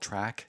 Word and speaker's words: TRACC: Now, it's also important to note that a company called Track in Minto, that's called TRACC, that's how you spell it, they pick up the tires free of charge from garages across the province and from Westmorland.